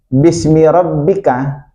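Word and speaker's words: بِاسْمِ رَبِّكَ: Kan itu beda Pak tulisannya Pak bacanya sama. Bismillah sama bismiabbik. Ada yang beda di situ. Kalau di bismi rabbika bismi rabbikalladzi khalaq itu ba ada alifnya itu, Pak.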